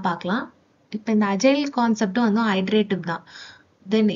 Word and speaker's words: agile: Okay, சிலபஸில் next topic introduction to அஜைலிட்டி. இதை வந்து நம்ம அஜைல், அஜைலிட்டி அப்படி தான் ப்ரொனவுன்ஸ் பண்ணணும்.